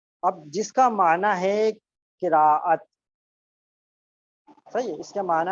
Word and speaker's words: قراءت: کو بتا دوں کہ یاد رکھیں صحیح تلفظ جو ہے قراءت ہے، کرت بعض لوگ بولتے ہیں یہ صحیح تلفظ نہیں ہے، اس کے معنی غلط